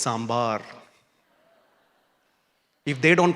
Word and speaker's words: sambar: everybody's writing on that saying it is not sber it is sambar if they don't pronounce